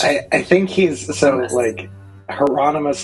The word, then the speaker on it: Hieronymus: Hieronymus. I think he's Hieronymus is usually how it gets said, but he will he tends to pronounce it Hieronymus. So Hieronymus is his way of saying it.